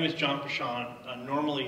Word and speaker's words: Peschong: hear me great okay my name is John poor Sean normally it's my name that's butchered the intros as a Luxembourg American it's